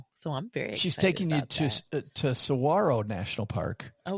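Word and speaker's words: Saguaro: She's taking you to to Sawarro National Park. Oh, cool. I don't know the name. It looks like It looks like Cigaro. Uh but it's pronounced Sarro.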